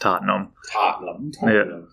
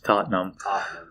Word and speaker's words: Tottenham: tottenham but it's pronounced tottenham yeah just two syllables tottenham uh what do you